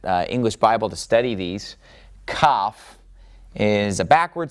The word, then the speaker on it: kaf: Now, if you remove the dot from this one, you also change the way that it sounds. Because if you remove the dot, then it sounds like het. And Kaf will make a that hard H sound when you remove the dot. But when you have the dot, it's Kaf and makes a K sound.